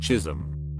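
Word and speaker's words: Chisholm: in the entire city Chisolm pronounced Chism my mom through the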